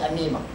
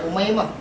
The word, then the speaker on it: Umaymah: Ejal lebih kurang macam Aminah, tapi baca Amimah. Ada baca Umaymah.